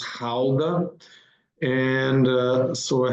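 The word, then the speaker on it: Gouda: the cheese GDA it's not pronounced G it's pronounced Howa and uh so so I have family from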